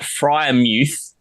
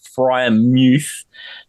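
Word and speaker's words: Freiermuth: So I'm going to go with Pat Fryermuth. Apparently that is how you pronounce it, Fryermuth.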